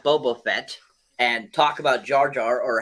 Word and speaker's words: Jar Jar: You're the only person I know who pronounces it Jaja. Look, It's Jar Jar.